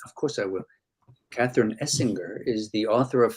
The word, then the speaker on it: Essinger: I'm going to ask the question, is it hard G or soft G? Essinger. I've been saying gur. We say Essinger.